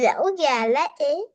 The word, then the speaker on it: lẩu gà lá é: In How do- Việt Nam we say lẩu gà lá é. how do you say that? Lo, Lẩu gà lá é. Logalae?